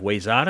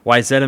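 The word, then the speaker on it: Wayzata: 69 forward out of waya is that how you say it wetta wetta there you go wetta Minnesota and um you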